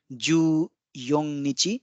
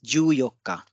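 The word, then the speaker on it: 十四日: again it's an exception it's not ju young Nichi it's Yu yoka and 20 is again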